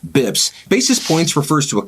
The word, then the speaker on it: bps: basis point really we we shortened it to bps but then we pronounce it bibs basis points refers to